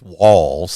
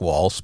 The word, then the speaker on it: Walz: Walz is because he's Walz, and I call it Walz because it's spelled like Walz, but it's Walz.